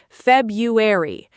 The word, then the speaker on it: February: The correct version is February, or even more naturally, February. The first R is almost invisible in natural speech.